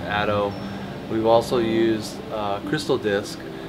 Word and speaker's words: ATTO: hd tune we use atto which is i think pronounced ato we've also used crystal